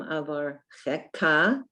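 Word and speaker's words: אֲבָרְכֶךָּ: The second line is Bechol Yom Avarcheka, and it is a Chaf, but it has a vowel in it and a dot, and you have to pronounce that Ka, Avarcheka, Va'ahalala Shimcha Leolam Va'ed.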